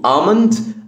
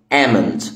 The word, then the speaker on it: almond: عندنا كمان كلمه اللوز اوكي، ليه نطقين بالانجلش، ممكن تقول almond او amend في الامريكان انجلش. almond او amend، المهم ال ال سايلنت ما بتتنطقش هنا اوكي.